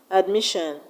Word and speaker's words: admission: We have derision, admission, vision. In the word derision, we have the stress on RI. In the word admission, we have the stress on MI.